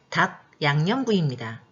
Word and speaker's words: 닭양념구이: 맛있어 보이는 이 음식의 이름은 닭 양념구이입니다. 여러분 함께 발음해 볼까요? 자신이 발음한 것을 한번 써보셔도 좋습니다. 정답은 뭘까요? 네, 바로 닭양념구이입니다. 표기대로 읽으면 닭, 양, 염, 구, 이라고 발음이 어렵지만 닭양념구이라고 발음하면 부드럽고 자연스럽죠?